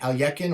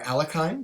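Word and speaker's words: Alekhine: was uh korres and aliekin or alakine depending on how you want to pronounce it and king's pawn opening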